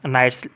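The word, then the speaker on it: knights: তরি হারগুলো ব্রেপ নাইটস এখানে কের উচ্চারণ হবে না নাইটস বলতে হবে ব্রেপ নাইটস সাহসী যোদ্ধারা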